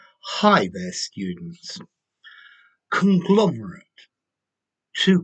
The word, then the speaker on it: conglomerate: hi their students conglomerate to conglomerate so notice there's a slight difference in pronunciation the noun a conglomerate or the verb to conglomerate conglomerate um okay so